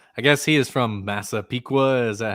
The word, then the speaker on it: Massapequa: I guess he is from Massapequa. Is that how you pronounce where he's yes, from?